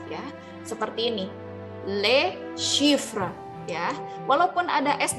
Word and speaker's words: les: ya Nah perlu diperhatikan ketika ada les yang tulisannya seperti ini ya itu dibacanya Le Eh bukan lutz yah dibacanya Lex karena kalau kita baca Nyale itu mempunyai makna lainnya tulisannya juga lain Jadi kalau ada l.s. dibacanya Le ya kemudian xepher ya Hai